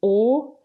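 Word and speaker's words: Å: The the town of O, which is how you pronounce it in Norwegian, it looks like the letter A, doesn't it?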